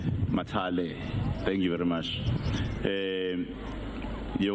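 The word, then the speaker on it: Mathale: I think it's Mayor Boysheli and Deputy Minister Mathala. I want to ensure that I pronounce correctly. Matale.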